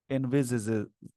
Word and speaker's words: envisages: से बोलते हैं, बट इसका एक्चुअल जो प्रोनाउंसिएशन हो जाएगा वो होगा envisaged, envisages, जेज, envisages इसको बोलते हैं। ये हल्का सा यहाँ पे जे साउंड, जेड साउंड आएगा।